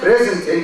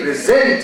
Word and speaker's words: present: no wait a minute it's not present you should say present to you because the